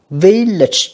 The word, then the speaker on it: village: Village âm 1 nha các bạn.